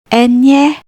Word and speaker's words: Ñ: The letter Nye, pronounced Enye, appears mainly in Spanish names.